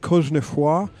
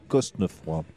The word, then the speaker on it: Cosnefroy: Good there, well, Benoit Cosnefroy. Cosnefroy. Well, we had somebody ask me on Twitter how to pronounce his surname, whether the S is said or skipped over.